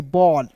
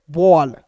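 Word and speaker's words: ball: के रूप में करेंगे बॉल बी A double L बॉल clear ना तो एक-एक चीज दोस्तों यहां यहां तक आपको क्लियर हो गया।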